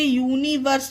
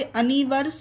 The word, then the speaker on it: universe: इसे यूनिवर्स पढ़ेंगे, इसे अनिवर्स नहीं।